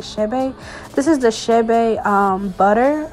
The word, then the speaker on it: Chebe: Y'all have been saying Chebe. I don't know the correct pronunciation, but I did Google and it's like Chebe.